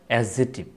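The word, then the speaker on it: adjective: মধ্যে ডি জি অর্থাৎ ওয়ার্ডের মধ্যে ডি অথবা জে অবলিক ডি জি পাশাপাশি থাকলে ডি এর উচ্চারণ হয় না যেমন এখানে ডি এবং জে পাশাপাশি রয়েছে তাহলে কি হবে এডজেক্টিভ এটা উচ্চারণ হবে এডজেক্টিভ এখানে হবে এজইন এজইন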